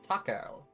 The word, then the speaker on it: 隆夫: Takao. 随分お若いようですが。 That's his name. That's how it's pronounced.